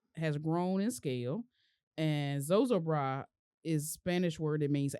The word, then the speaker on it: Zozobra: Burning of Zozo Bra. Is this how you say that? Zozo Bra is the only way.